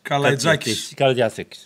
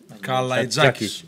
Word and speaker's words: Kalaitzakis: It was not only my name, also you couldn't pronounce Kalaitzakis' name. So. And number 11, difficult name, Panathinaikos. Panayotis Kalaitzakis. Kalaitzakis.